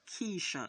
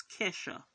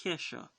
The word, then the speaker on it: Kesha: Ke$ha website so it's it's not Trisha its Ke$ha I know this because I'm a fan it's it's pronounced Ke$ha highroad is now available